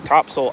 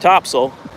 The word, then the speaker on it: Topsail: on the beach here topsil Island North Carolina it's pronounced topsil but it's spelled top top soil or